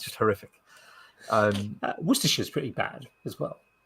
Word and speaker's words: Worcestershire: it's just horrific um worcestershire is pretty bad as well yeah but i mean you could work with yourself yeah if you understand that you know it's it's sheer not shyer and you know all